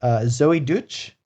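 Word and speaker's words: Zoey Deutch: Zoe Deutch.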